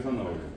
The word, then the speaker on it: zanahoria: Si yo le digo a ustedes zanahoria, ¿cómo se escribe zanahoria? La Z, ¿qué fue? La H. Ninguna de esas dos letras suenan como tiene que sonar. De hecho, la H no suena.